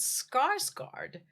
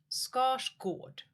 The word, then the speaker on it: Skarsgård: But scars scard is actually pronounced scotch gourd. Scotch gourd.